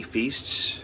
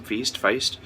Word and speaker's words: Feist: I'm also looking forward to Raymond E. Feast's, I think that's how you pronounce his last name, Feist.